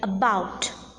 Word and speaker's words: about: not accented for instance in the words like about deceive Delight the second syllable is accented the first syllable is unaccented unstressed hence we need to